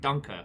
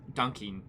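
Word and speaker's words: danke: ah um you're right that is german for being thankful but it's pronounced dunker rather than dunking or donkey um so moose i'm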